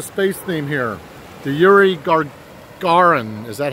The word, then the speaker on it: Gagarin: The Yuri Gagarin. Is that how you say his name? Gagarin? Gagarin.